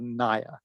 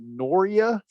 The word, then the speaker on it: Naya: anymore, I don't think, called Naya. Naya. Mhm. Remember Naya Mhm. water? When he came home one day and told us that this guy pronounced it Norya, I mean, I think we all peed in our pants.